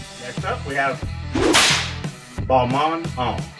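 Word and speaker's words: Balmain: next up we have balman um recently i figured out that it's pronounced ball monk so we'll acquiesce right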